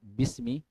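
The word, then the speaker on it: بِسْمِ: bismillah bismillah itu kan Bismi Bismi itu ada dua kata ada Bi ada Ismi hanya hamzahnya Hamzah wasal tidak terbaca berarti Bismi asanya Bi Ismi gabung Bismi Dengan nama Allah bismillah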